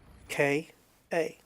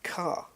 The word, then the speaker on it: Ka: car right it's called the Ford car and it's spelled k a and a lot of people pronounce it Ka I've got a my sister has a Ford KA and it's incorrect it's car right it's car because it's named after an Egyptian Prophet car